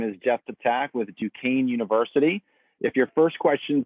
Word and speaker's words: Duquesne: is jeff attack with duquesne university if your first question tonight was going to be how do you say that school's name now you know it is duquesne not duquesne so i want to